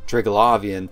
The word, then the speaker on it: Triglavian: the Kikamoras, and yes, I am pronouncing it Triglavian, since the Triglavians say Triglav in their message, and the Scope News Channel calls them Triglavians.